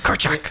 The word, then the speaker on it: Kerchak: Kerchak.